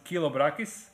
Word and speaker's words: Chilobrachys: a big fan of Chilobrachys genus, or as Americans like to pronounce it, Chilobrachys.